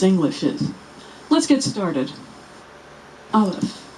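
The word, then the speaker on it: אלף: Aleph, which is silent, or some would say, makes the sound before the A in apple.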